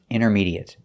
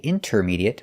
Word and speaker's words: intermediate: The words we're looking at today are not verbs, so they're all pronounced with the et sound. Words like intermediate, adequate, legitimate, accurate, and approximate. Our first example is intermediate. We notice that the T is silent. We don't say intermediate, we say intermediate.